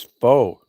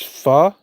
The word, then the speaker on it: pho: I thought it was faux. Foo? It's pho? I never heard anybody pronounce it that way.